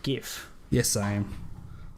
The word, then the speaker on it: GIF: floats you back so do you pronounce it gif or gif oh I know it's meant to be pronounced Jif but I call it gif yes I am like